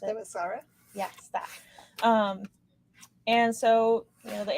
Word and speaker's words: Themyscira: I can never pronounce it. Themyscira?